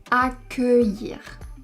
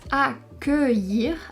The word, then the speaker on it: accueillir: Et ici les lettres UE font le son E fermé. On va donc prononcer accueillir. Attention il y a une petite subtilité. Ici on prononce accueillir avec un E fermé parce que ce n'est pas la dernière syllabe du mot.